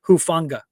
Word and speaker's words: Hufanga: And again, the pronunciation, the last name is Hufanga.